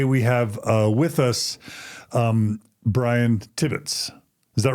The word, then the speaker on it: Tibbets: Today, we have with us Brian Tibbets.